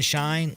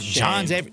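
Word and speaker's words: Schoen: John Mara Jr., their GM's John Shine. Like, Shane. Shane, whatever. But his name's spelled like an idiot. It's like S-C-H-O-E-N. S-C-H-O-E-N. Yeah. Shane.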